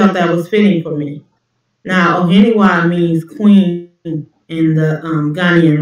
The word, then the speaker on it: Ohenewaa: pronounce it, I don't even think I can pronounce it properly. Ohenewaa. Is that right? Yeah, you're getting closer. Ohenewaa Yes.